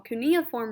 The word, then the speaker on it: cuneiform: cuneiform i'm sorry i was saying it wrong cuneiform writing was made up of about 1200 different